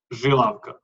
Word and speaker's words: Žilavka: Žilavka. So you pronounce Žilavka. Z as Ž. We have Z and Ž.